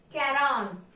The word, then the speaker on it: quarante: and four 40 pay attention carefully 40 is pronounced as Kon Kon in French sometimes even if in the